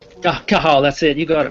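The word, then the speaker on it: Cathal: do you how do you say it again kahal kahal that's it you got it man silent Irish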